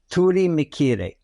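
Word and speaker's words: Turimiquire: considered the seats of the Gods and that's pronounced Turi mikir in the karib language it's kind of of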